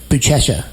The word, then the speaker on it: Buchecha: Nashville, my perception of Legion and Checkmat was Buchecha. Is that how you pronounce his name?